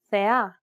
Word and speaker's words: θεά: This accent just indicates that you need to stress the syllable. That's it. Κάλος, καλός. Νόμος, νομός. Θέα, θεά. Notice how the accented syllables are emphasized? It's pronounced a little bit louder and longer than the surrounding syllables.